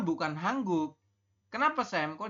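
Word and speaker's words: 한국: Kita membacanya adalah hangguk. Seperti itu. Yang ini ya silakan nanti Anda isi di bawah, teman-teman. Bisa ya. Jadi kalau ada nien bertemu dengan giok, maka nien berubah bunyi menjadi eng.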